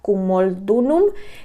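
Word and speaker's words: Camulodunum: romanos se establecieron en la ciudad de, se pronuncia Cumaldunum, que ahora se llama Colchester, que está justo debajo del territorio iceno.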